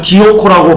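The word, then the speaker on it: διώκω: 여기서 그럼 핍박은요, 디오코라고 발음하는데요.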